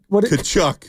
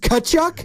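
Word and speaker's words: Tkachuk: okay so there no we don't pronounce the T silent T tchuck this just cchuck B big hockey guys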